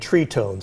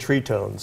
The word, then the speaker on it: Tritones: we banjo three and tree tones it's spelled tritones but it's pronounced and this is the